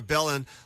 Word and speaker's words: Belin: And I also have a free email newsletter that's called Iowa politics with Belin. And Belin is spelled b e l i n.